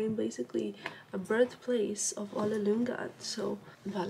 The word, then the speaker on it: Ole Lynggaard: Okay guys, we arrived to Ole Lynggaard, that's how you say it in Danish, flagship store in Copenhagen.